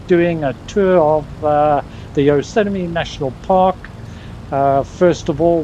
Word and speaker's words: Yosemite: We are doing Yosemite twins today, if I pronounced that right. Any Americans here to correct me? Wrong. Yosemite. That was close enough. That was Yosemite.